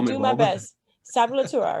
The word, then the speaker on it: Sablatura: Sablatura, right? That's good. And it's actually supposed to be pronounced as Sablatura, but Sablatura, Sablatura.